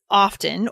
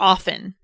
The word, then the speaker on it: often: Which we usually pronounce often with a silent T sound though.